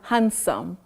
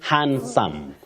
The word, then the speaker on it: handsome: is it handsome or handsome I'm not saying he is though oh hand no hand no say hand that D is not pronounced in that word Betty you say handsome handsome not hand handsome